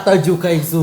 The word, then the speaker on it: Attaaju Kayyisu: Bacanya Ataju? Bacanya Ataju Kaisu gitu. Gitu. Panggilannya bisa dipanggil Kais. Oh Kais, emang dibacanya Ataju? Bener, dibacanya Ataju Kaisu itu double huruf bukan karena dipisah tapi karena ada harokatnya, karena bahasa Arab.